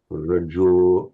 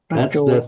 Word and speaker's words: rajo: Yeah, there's a slight tendency to make these long O slightly English, slightly diphthongal, to avoid the tendency to pure O, kito, yo, rajo, yeah. Kito, rajo. That's better.